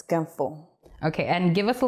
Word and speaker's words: ganfo: Okay, Semhar, am I pronouncing that correctly, first of all? Yes, it's ganfo.